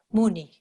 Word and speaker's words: Muni: ¿Es Muni o Mani en su pronunciación? Muni. Muni, Muni, Maha Munaye.